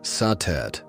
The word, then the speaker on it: Satet: Before the great names of Isis or Hathor filled the temples of Egypt, there was Satet, pronounced Satet or Satis by the Greeks.